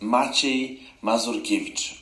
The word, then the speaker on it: Maciej Mazurkiewicz: Maciej Mazurkiewicz, or the shorter version is Maciek, so it's Maciek Mazurkiewicz.